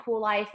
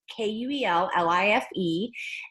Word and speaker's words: Kuel Life: And that is spelled all cattywampus with a K, so it's Kuellife.